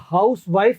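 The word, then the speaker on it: housewife: HOUSEWIF, तो इसको अगर हाउस वाइफ कहेंगे तो पत्नी है, गृहिणी है जो घर को संभालती है। और ये इसको अगर हजिफ बोलेंगे, हजिफ भी कहते हैं इसको, हजिफ, अगर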